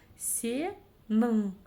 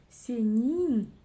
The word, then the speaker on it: сенің: Буква «ы» очень твердо звучит, буква «и» очень мягко звучит, а вот палочка с точкой — ровно то, что нам необходимо. Пробуем. Сенің очень твердо, сенин очень мягко, а вот сенің — то самое, что нам необходимо.